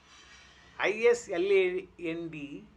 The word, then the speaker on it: island: I S L A N D. S is silent island.